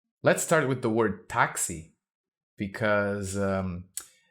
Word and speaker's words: táxi: word taxi because um this an X having the sound of x like in English is very unusual you've got it in the word taxi because it's a loan word from English and yet because if a word ends in the letter i in Portuguese it's usually stressed so it'll be taxi we can't have